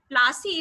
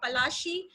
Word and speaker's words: Palashi: Plassey is an anglicized pronunciation of Palashi, and the place derived